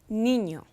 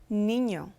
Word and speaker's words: niño: Niño, niño.